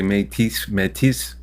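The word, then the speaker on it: Métis: last one all right you can see it a couple ways I say I'm 18 but I've heard people say Matisse okay I'm glad I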